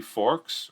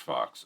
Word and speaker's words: Fox: Okay, is it supposed to be Forks or is it Fox? Because okay, it's pronounced Fox.